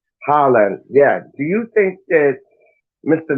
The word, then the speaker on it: Haaland: But do you think this Haaland, however you say his name, it's not Hageland because he used to play for Fulham. Haaland, yeah.